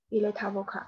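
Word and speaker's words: il est avocat: v 是 ile tavoka，注意这个 t 和 a 辅音字母结尾的和元音字母开头的它要连读，嗯，在法语当中叫连诵 v ile tavoka。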